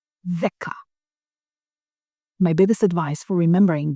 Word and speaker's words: δέκα: Remember pronunciation of delta. The. Tongue out, the.